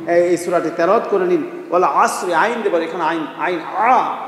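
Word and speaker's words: والعصر: ওয়াল আসরি, আইন দেবার এখানে আইন, আইন আসরি বলেন, ওয়াল আসরি, কারণ যদি কেউ বলে ওয়াল আসরি তাহলে কিন্তু হবে না, আইন দিয়ে বলতে হবে।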